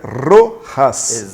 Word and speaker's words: Rojas: rochas são muito tempo que o certo é rorras é isso muito lá tô bom hein Tá